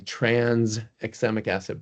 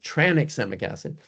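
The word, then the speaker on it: tranexamic acid: There's no S in transexemic acid. Even people in the blood field are saying transexemic acid, but it's really transexemic acid.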